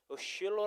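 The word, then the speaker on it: שילה: 것입니다 그 하바 자는 실로 라는 히브리어 가 있습니다 쉴러 라고 발음을 하는데요 씨엘로 은 셀마 에서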